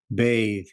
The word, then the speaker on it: bathe: bathe as you know bath is a noun but add e at the end and it becomes a verb and it's pronounced bathe bathe please repeat I have